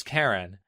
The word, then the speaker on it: Keren: Keren spells her name with an E instead of an A, but nonetheless pronounces it as Keren.